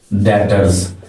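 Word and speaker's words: debtors: डेटर्स, ये B silent है, तो ये डेटर्स का आपका कॉलम बन गया।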